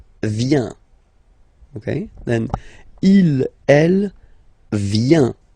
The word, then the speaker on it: vient: Okay, then il, elle, vient, final T not pronounced.